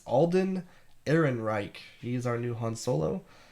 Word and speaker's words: Alden Ehrenreich: If you're just reading it, it's hard to pronounce. But it's Alden Ehrenreich.